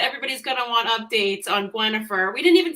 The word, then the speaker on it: Gwenhifer: to have it easier German way of um pronouncing it as quenifer so that's how she how she got her